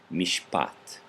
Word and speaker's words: mishpat: syllables mish and hot where is the accent on the end because it's not otherwise noted to you but it would be elsewhere like the first over here my it's not my yin it's my my mishpat I have some spot